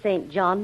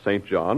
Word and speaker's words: St John: why not as a St John in the New Testament one of the disciples then Urban St John or singen as the British pronounce it then there's I never